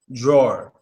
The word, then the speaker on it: drawer: Deep a sound which we know when we hear that deep a sound that means it's a w after it so you're able to pronounce this draw dra drawer drawer drawer with a deep a you don't have to say drawer drawer draw you could completely ignore the W because when you make